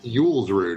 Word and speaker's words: Julsrud: Julsrud.